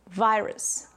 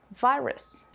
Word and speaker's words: virus: Then the U, since the syllable is not stressed, we just pronounce it with a schwa, the minimum sound in English, U. And the final letter is an S. So we pronounce virus, virus.